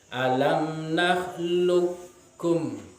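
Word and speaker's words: أَلَمْ نَخْلُقْكُمْ: Bacaannya adalah alam nakhluqkum. Alam nakhluqkum. Jadi langsung lam itu ditasdidkan ke huruf kaf. Jadi tidak membacanya dengan qalqalah seperti alam nakhluqkum. Nah, ini bacaan yang salah. Yang betul adalah alam nakhluqkum, langsung kepada huruf kaf.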